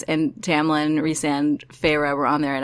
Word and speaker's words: Rhysand: Rhysand.